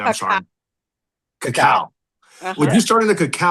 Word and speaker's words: cacao: not a coffee shop, but how do you pronounce it correctly? I'm Cacao. sorry. Cacao.